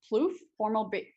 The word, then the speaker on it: Plouffe: Tyler Gooch sounds exactly like Trevor Plouffe, former baseball player and current podcast host.